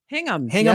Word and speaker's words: Hingham: at his home in, is it pronounced Hingham? Hingham. Yes, indeed. Southeast of Boston.